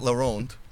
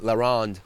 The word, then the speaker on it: La Ronde: I was at La Ronde, and Say it right, La Ronde.